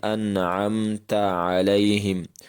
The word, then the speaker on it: أنعمت عليهم: والی غلطیاں۔ معزز دوستو، انعمت علیہم کا درست تلفظ یہی ہے جو آپ نے سنا، یعنی انعمت علیہم، اور اس درست تلفظ